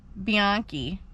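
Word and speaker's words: Bianchi: DNA and then the next suspect was Kenneth biani and the only reason I know how to pronounce that last name is cuz I had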